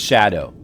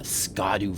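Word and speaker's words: Scadu: I mean, apparently it's pronounced shadow, but I'm going to keep saying Scottu. A scadoo fragment on the hand.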